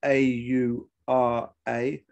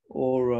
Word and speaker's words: aura: So in the essay, Walter Benjamin talks about famously the aura, which is, this is spelled A-U-R-A, aura or aura.